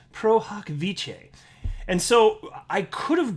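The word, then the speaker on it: pro hac vice: said it on a video i said uh pro hack vice and then somebody in the comment section said it's pronounced pro hoc vice and so i could have googled that before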